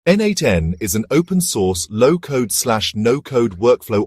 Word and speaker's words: n8n: Designed with flexibility and extensibility in mind, N8N, pronounced N8N, operates on a node-based workflow system where users